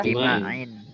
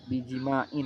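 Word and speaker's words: بِجِمَاعٍ: Maka bacanya kita gimana jadinya ini? In ya? Bijima'in. Bijima'in karena ada huruf jar.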